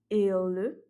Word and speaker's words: ele: Pour le féminin, elle, ella, et donc là on voit la différence avec ele au niveau de la prononciation du premier E. Pour le il était E fermé.